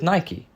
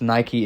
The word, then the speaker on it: Nike: And with nike, Personification of victory, after which the sports brand is named after. And while I admit this confirms Nike is the correct pronunciation, I’m British and will